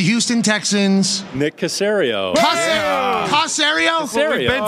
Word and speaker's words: Caserio: Caserio. Been saying. Tom Brady said Susserio.